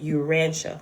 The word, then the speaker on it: Urantia: But some things it seemed more to go into like the Jesus Christy stuff and it's pronounced the Urantia, right?